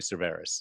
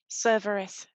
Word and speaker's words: Cerveris: a friend of mine it's definitely severus and it's it's it's not but sorry could you pronounce it again how you say it i i pronounce it cerverus serverus got it right okay pretty much